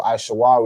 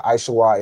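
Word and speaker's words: עשו: So Aishawa is how you'd say Esau. Right. So Aishawa is Esau and his name was changed to Adawam which is Edom.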